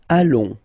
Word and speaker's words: allons: Nous allons. Final S not pronounced, and then when you get this ON combination, you get this nasal on, really in your nose, okay? On.